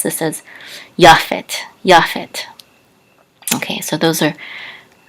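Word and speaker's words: יפת: so it's yaffet yaphet in English we say japheth now anciently the Tav without the um the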